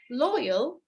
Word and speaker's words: loyal: So one of the mistakes that people do is that they stress the wrong syllable. زي ما قلنا امبارح مثلا كلمة loyal. Loyal تمام فيها low, that's a syllable, and yeah, right, low, yeah. Now people mistake the stressing part and they stress on the yeah, not the low.